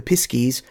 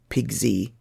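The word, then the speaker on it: pisky: the next tribe the piss Keys I'm choosing the piss key version of the pronunciation there are others pig Z pixie piss key I'm choosing this one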